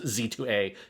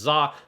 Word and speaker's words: Z-A: I it can't you can't call it Pokemon Legends Z2A. It must be Pokemon Legends Zah.